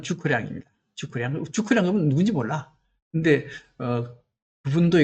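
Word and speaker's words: 諸葛亮: 제갈량 같은 경우는 중국식 발음은 주커량입니다.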